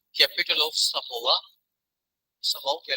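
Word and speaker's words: Samoa: तो हमने Oceania reason में कंट्री पढ़ी है समोआ। प्रोनाउंसिएशन इसकी समोआ, अब समोआ भी कह लेंगे तो काम चलेगा, इतना खास फर्क नहीं पड़ता।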